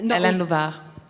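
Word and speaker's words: Hélène Louvart: worked with on Morina, Hélène Louvrar, if I'm pronouncing that correctly. Yes. Hélène Louvrar.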